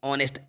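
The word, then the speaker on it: honest: Reena is एन ऑनेस्ट girl, Reena is एन ऑनेस्ट girl, मतलब कि रीना जो है एक ईमानदार लड़की, ऑनेस्ट, एच साइलेंट है यहाँ पर।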